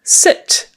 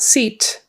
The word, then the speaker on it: sit: um sit again with a short I not seat because seat is um the thing you sit on take your seat that